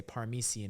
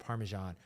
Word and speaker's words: Parmesan: a word wrong like she would say paresan instead of Parmesan or she would be